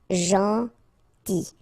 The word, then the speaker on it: gentil: Gentil. So it's a strange one because here this final L is not pronounced. Okay? Gentil.